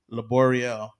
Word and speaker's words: Laborio: to say um laborio unless you had a latina teacher or latino they would pronounce it right spanish class was the